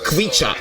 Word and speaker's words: Khvicha: So KH is Georgian. Khvicha. So the right pronunciation will be Khvicha Kvaratskhelia.